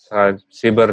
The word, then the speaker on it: Siber: dan Politeknik politeknik, Siber siber dan Sandi Sandi Negara. Negara. Siber bacanya, Mas. Apa cyber? Siber kan? Siber. Siber.